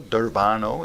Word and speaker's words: Durbano: Durbano is the correct pronunciation.